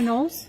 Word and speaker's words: Knowles: My name is Nolles. My last name is spelled K N O W L E S.